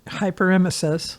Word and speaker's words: Hyperemesis: Hyperemesis.